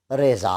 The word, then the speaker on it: رضا: بہت ہی عمدہ ہے، اس کا تلفظ رضا ہے۔ سجاد رضا یعنی بہت